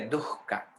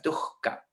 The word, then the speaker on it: dukkha: Sufrimiento en sánscrito es dukkha. D-U, se escribe H-K-H-A. La pronunciación correcta sería dukkha, porque esa H es sonora, dukkha.